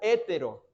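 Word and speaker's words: ἕτερος: es una palabra que en griego se pronuncia hétero que significa de diferente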